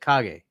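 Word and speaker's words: Kage: It is true, but Cage is not uh what's that word? He's saying pronounced like cage. He's not elegant enough. No. Oh, no. He's saying it's pronounced like cage.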